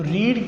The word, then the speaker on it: read: Form में लेंगे तो रीड की सेकंड फॉर्म होती है रेड। रेड स्पेलिंग्स नहीं बदलते, उसकी प्रोनाउंसिएशन चेंज हो जाती है। तो शी ये सेम ही होगा मगर इसकी प्रोनाउंसिएशन रीड नहीं होगी, रीरेड।